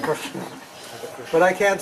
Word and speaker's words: Krishna: No, it's not Krishna. It's Krishna.